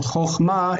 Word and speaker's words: chochma: quality is u, but this is perfectly fine to say that it's choch. Okay, so chochma is not going to break the first syllable.